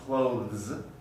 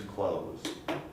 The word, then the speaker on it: clothes: because of the spelling but this e is not pronounced at all it's just a product of the spelling rule and in order to um represent that it becomes it's there but it's not pronounced if you want to pronounce the in careful speech clothes it's a little bit difficult but it's not necessary i think most speakers will produce clothes clothes i'm going to